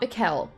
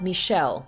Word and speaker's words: Michel: hey that's the guy um okay it's not mikel mikhail or however i said it before i'm just